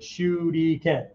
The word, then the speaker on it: shuriken: But there's three syllables to the word shuriken, right? Shuriken.